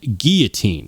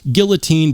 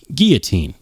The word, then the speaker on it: guillotine: No, I mean guillotine. And the crazy thing is that most people insist on pronouncing it guillotine, but that is not, in fact, the way that you are supposed to do that.